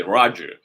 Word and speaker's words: Roger: Even though it doesn't sound African, I mean in French it's Roger, but in the U.S. people say Roger, and I go by it.